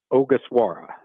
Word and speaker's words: Ogasawara: I'll let you tell me how to pronounce it. All right, I believe I have it finally. It's Shinosuke Ogasawara.